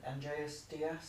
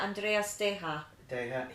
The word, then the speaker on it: Andreas Deja: Is it Andreas Diaz? Yeah, Andreas Deja.